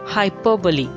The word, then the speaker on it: hyperbole: hindi you call it this word is pronounced as hyperbole hyperbole not hyperbole not hyperbole it's hyperbole hyperbole the r after hyper is silent hyperbole all women like